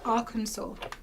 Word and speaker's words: Arkansas: Michigan I mean can we all talk about Arkansas yeah or Aransas as it is spelled how on Earth did we go from